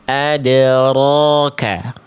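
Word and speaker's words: أَدْرَاكَ: Jadi getarannya enggak berlebihan. Adroka. Ad rok roka jadi getarannya ada tapi enggak banyak-banyak tapi tetap jelas. Bukan berarti hilang getarannya. Tetap apa namanya? Ee si getarannya ee jelas, tegas. Adroka, adroka.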